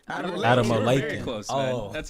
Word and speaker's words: Adamolekun: Damola Adamolekun.